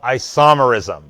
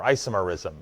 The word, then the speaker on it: isomerism: Well, it gets more fun than it already was, with something called isomerism, or isomerism. If you like to put the accent on a different syllable, you can say it that way.